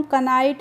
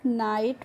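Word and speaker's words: knight: ऐसे ही के एन आई जी एस टी है तो इसको हम कनाइट नहीं पढ़ते हैं। नाइट पढ़ते हैं।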